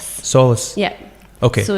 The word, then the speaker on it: SÒLAS: we're and luxury accessories so how do you pronounce solace solace solace yeah okay so it's a Gallic words it